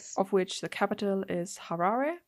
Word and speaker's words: Harare: Um, of which the capital is Harare. Not sure if I probably butchered that.